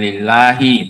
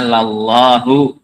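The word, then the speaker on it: لَلّٰهُ: Lamnya di fathah bukan lillahi bacanya. Bacanya lallahu ada harakatnya ada.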